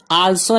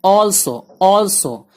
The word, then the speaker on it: also: इन में या अंदर, ALSO आल्सो नहीं ऑल्सो भी या नीज, PLAY